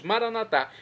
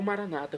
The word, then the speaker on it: Maranatá: E agora eu clamo do aramaico, dialeto de Jesus, Maranatá, como dizemos nós católicos, ou maranata, como dizem nossos irmãos separados das comunidades evangélicas ou protestantes. Não importa a pronúncia, o significado é o mesmo.